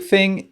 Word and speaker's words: thing: Thing, ce mot ça veut dire chose et quand on le prononce, on veut bien se concentrer sur le th, je sais que c'est très difficile pour les français parce que ce sont il n'existe pas vraiment, même pas du tout, je pense.